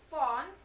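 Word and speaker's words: phone: itu tentang Ustazah mempraktekkan bagaimana cara membaca huruf P dan H yang terdengar seperti huruf F. Jika digabungkan suaranya menjadi dibacanya seperti huruf F. Nah, for the example untuk nomor 1 itu ada font.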